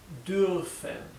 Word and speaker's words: dürfen: Bien, se pronuncia, es un sonido intermedio entre una I y una U. Bien, dürf, dürfen. Y esta R es un poco imperceptible.